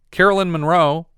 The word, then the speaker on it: Carolyn Monroe: hooker ghost to washington carolyn monroe her name rhymes with marilyn monroe uh she played anna